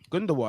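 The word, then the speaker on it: Gündoğan: Gundogan. That's how you pronounce his name.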